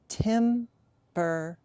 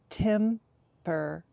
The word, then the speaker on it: temperature: I say it but the first and most common way to say this word is tempure tempure don't look look at it on the screen just practice saying it temperature we find the temperature